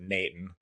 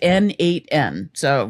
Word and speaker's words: n8n: still having is it N8N or is it Nathan which I said to Derek there today It's kind of like the southern pronunciation of Nathan According to the N8N website, it is N8N.